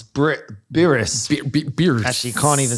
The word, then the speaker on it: Birss: And you need to say it like it sounds. Birss.